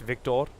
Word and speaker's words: Victor: Other people may know him as Bucktop, because that's how his name was written in game, but it's actually pronounced Victor.